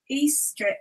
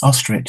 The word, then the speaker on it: Ostrich: Eastrich says... Ostrich, it's pronounced.